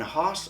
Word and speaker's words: Haus: And I think it's pronounced Haus, because their slogan is from ours to yours. They're saying from our house to your house to yours.